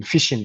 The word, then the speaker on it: phishing: So now, going into the main topic now, which is phishing itself. If you look at the word, the phishing and the fish itself, like fishing, it's having the same the same pronunciation, but different spelling.